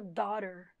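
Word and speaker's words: daughter: da alta e a palavra filha em inglês escreve daughtry fala dólar filha dólar quem palavrinhas em cheias de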